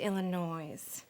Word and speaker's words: Illinois: Well, he needs a ride to Illinois. It's silent. The S is silent.